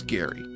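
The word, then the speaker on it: Gari: Uh, G A R I, pronounced Gary.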